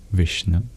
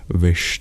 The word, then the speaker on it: viṣṇave: m in English and the dots underneath the s and n in Vish that indicates these are retroflex which means you curl your tongue back to pronounce them I begin I already